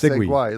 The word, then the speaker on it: segue: Or UE, like segway, like segway. UE. That's how segway is spelled.